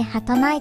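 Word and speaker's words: 儚い: 上がって親番終了人の夢と書いて履かないと読みます 5万引きと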